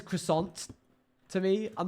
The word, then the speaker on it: croissant: somebody uh no yes I'm aware the you don't pronounce the t in French but if someone says croissant to me I'm not